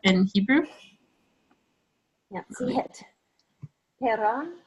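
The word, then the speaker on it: פרח: Perach. Perach.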